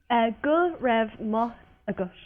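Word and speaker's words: go raibh maith agat: Go raibh maith agus. Gul raibh maith agus. Go. Go. Go. Go. Raibh. Rev. Maith. Rev. Mach. Agus. Agus.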